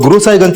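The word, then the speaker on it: गुरसहायगंज: गुरु साईंज सर गुरु साहिबगंज को वहां के लोकल लोग गुरुसाहिगंज प्रोनाउंस करते हैं।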